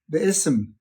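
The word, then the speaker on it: بسم: The Arabic is pronounced Bism. There's the B and the Ism.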